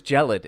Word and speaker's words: gelid: The word was gelid, and that's not spelled the way you think it's spelled.